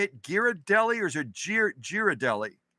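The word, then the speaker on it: Ghirardelli: that right is that how you say it giradelli or is it gir giradelli anyway those of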